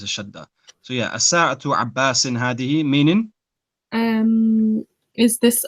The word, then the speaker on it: الساعة: Okay, so at the moment, what you're doing, you're putting a shadda on the scene, and you're saying as-sa'atu. Okay. There's no shadda on the scene, so it's as-sa'atu.